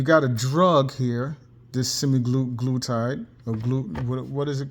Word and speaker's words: semaglutide: You got a drug here, this semaglutide, or what is it called?